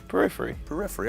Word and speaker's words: Periphery: Periphery, all right.